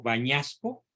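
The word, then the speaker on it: Bagnasco: por este gran cardenal vacunasco O tal vez se pronuncia en italiano bañasco sí Y dice Espero que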